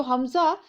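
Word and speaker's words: حمزة: तो हमज़ा हम एंड में तो हा उसको प्रोनाउंस करते हैं, बट वो एक्चुअली में जो नाम है एंड में गोल ता आती है।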